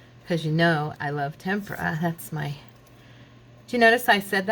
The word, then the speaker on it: tempera: I always want to say tempera or tempura. And I was watching Artist Academy and she kept saying tempera. And I'm like, yeah, that's how you say it.